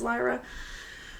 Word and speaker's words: Lyra: Sorry, I said LRA.